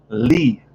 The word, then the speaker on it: Lea: And Charlie Lee, L-E-A, Charlie Lee, that's how you pronounce it.